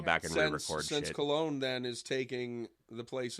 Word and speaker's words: Khelone: It's pronounced either like Khelone or sometimes Chelone with like a slight.